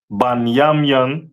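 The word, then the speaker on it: בנימין: Um, the tribe of Benjamin is uh the West Indians and is pronounced banyamian in the Hebrew.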